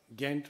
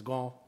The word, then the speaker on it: Ghent: But I'm happy to say that in the city of Ghent, which I believe is pronounced as Gant, in Belgium, I addressed an audience a little over a year ago.